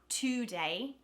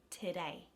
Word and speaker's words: today: replaced with a schwa the first one is today today so you don't say today even though that's how it reads that first syllable because it's not the emphasized syllable it becomes a schwa and a is the emphasized syllable today the the australian schwa